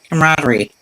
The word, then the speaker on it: camaraderie: How do you say that word? Camaraderie. Yeah, that's right. Right. Why does it sound lot wrong? Camaraderie.